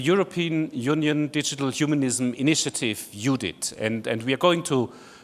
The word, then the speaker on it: EUDHIT: So this will involve also your opinion, because what eudhit really is, and that's the way we pronounce it, eudhit, is someone said all